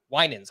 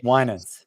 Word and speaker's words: Winans: pronounce this guy's name is it Alan Winans it is Winans okay Winans so Alan Winans made